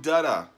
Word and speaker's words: Dutta: says we got Tom Dutta said like buttah with the D how did I learn